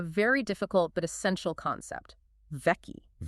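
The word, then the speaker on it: vaki: Vei. Vei. Can you spell that?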